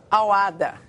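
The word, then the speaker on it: Al-Wahda: O nome, a pronúncia certa aqui é Al-Wahd, o nome do time lá dos Emirados Árabes.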